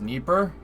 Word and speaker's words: Dnieper: It's pronounced Dnieper.